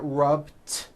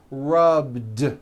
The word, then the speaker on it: rubbed: rub yesterday i rubbed all i did was was add a voiced d sound at the end rubbed it's not rubbed with an unvoiced t it's rubbed like that here's another example clean